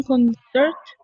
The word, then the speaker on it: concert: Aller à un concert. Un concert. La T no se pronuncia.